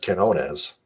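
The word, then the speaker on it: Quiñones: And they didn't address any bats whatsoever, except they got a minor league hitter in Jose Quinones with a silent U.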